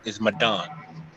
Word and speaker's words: Madon: A lot of people don't know how to pronounce it, but it's Arabic. It's Madon.